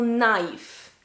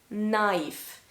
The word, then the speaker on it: knife: so the letter k when you start a word with the letter k and the second letter is an n k n then the first k is silent for example knife knife knees nice knowledge knowledge